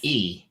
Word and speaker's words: Jaeson: Jason's Mistress, but it's spelled Jason's Jaeson. Jason's Mistress. J-A-E.